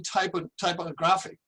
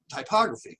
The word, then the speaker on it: typography: And he carried this forward into a career in typography, okay, typography, excuse me. Got to put the right emphasis on the correct syllable.